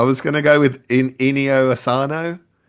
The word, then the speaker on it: Inio Asano: I was going to go with Inio Asano. Yeah, that's perfect. Is that right? Ino Ino Asano.